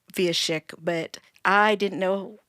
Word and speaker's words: Wieszek: So if you're looking at it written for all of our American audience out there, the W in Polish is pronounced like a V.